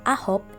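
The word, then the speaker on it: 아홉: night number which is the number nine is pronounced as a hope in korean say it with me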